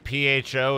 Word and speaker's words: pho: P-H-O is pronounced pho. That's pho.